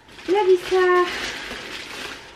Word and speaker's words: Levi's: A kupiłam mu taki komplet bokserki i skarpetki z Levi'sa. Tak, wiem, to się wymawia Levi's, ale kochani, mówię po polsku, także spolszczyłam tą nazwę, o tak.